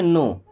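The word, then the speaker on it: know: आपने सुना होगा कि यहां पे के और डब्ल्यू होता है साइलेंट और इसे क्या पढ़ते हैं नो नो का मतलब होता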